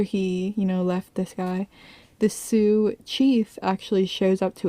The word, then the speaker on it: Sioux: Sioux. Yeah, Sue.